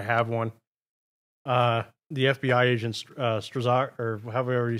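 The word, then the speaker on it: Strzok: The FBI agent, Strazak, or however you say his damn name, Strock. Is that how you say I it? think it's pronounced Strock.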